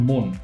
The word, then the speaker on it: মন: স তাই রয়ে যাচ্ছে একাক্ষর শব্দের প্রথমে অ এবং এবং পরে দন্তন্য থাকলে কোথাও কোথাও সেই অ এর উচ্চারণটা ওকারের মত হয়ে যায় একাক্ষর শব্দ প্রথমে দেখছি আমরা যে এখানে মন এই যে মন এটা মন নয় এটা হবে মন কিংবা বন নয় এটা হবে বোন জন নয় সেটা হবে জোন